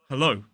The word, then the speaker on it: hello: so so mispronounced so this word has two syllables stressed on the second syllable hello hello if you come